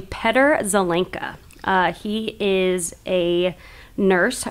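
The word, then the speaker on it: Petr Zelenka: were talking about yeah he pronounces his name Peter zelinka uh he is a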